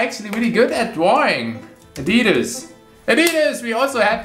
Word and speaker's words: adidas: people that are actually really good at drawing adidas it is we also had this in one of the last episodes and in german it's adidas some people got mad because i said adidas